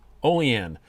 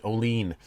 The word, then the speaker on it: Olean: being from here i assure you it is pronounced olean not olean it's about a hour and a bit from